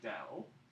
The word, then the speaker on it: del: This operator is called del, and the symbol is called nabla. So this is a nabla, and it means, but we pronounce it del.